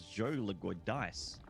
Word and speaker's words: Joe Leguidice: So I pronounced his name correctly as Joe Leguidice.